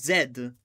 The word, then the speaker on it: Z: He's He's told me plenty of times as a kid, stop Zay Z. You are not American. You are supposed to pronounce it as Zed.